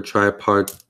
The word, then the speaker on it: tripartite: Or tripartite.